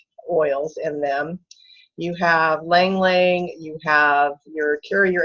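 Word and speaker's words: ylang-ylang: But Lang Lang, and it's spelled Y-L-A-N-G twice.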